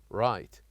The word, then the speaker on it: right: was this word write right and as you can see here here we wrote the letter G and letter H but we don't pronounce it we say directly we